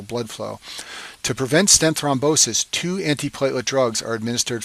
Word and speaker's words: thrombosis: complication is called stent thrombosis and this name rhymes with restenosis but it's a completely